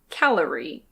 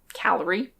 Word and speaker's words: calorie: For example, with the word "calorie". There's a schwa followed by a /r/. If someone's speaking really fast, they might drop the schwa and say "cal-rie", but native speakers almost always pronounce it here.